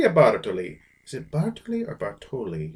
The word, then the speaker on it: Bartoli: Italy zip article er Bartoli usually the accent in Italian would be on the second to last syllable for some reason I